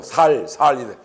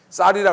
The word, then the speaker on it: 쌀: 이사가 가지고 얼마나 놀리던지 쌀 발음을 못해 가지고 살살 쌀이라 그래 봐 살살 이래 가지고 참 많이 학생들이 많이 비웃었는데 친구들이 이제는 바람을 잘합니다 쌀 이렇게 잘할 수 있습니다 그래서 근데 여기 보면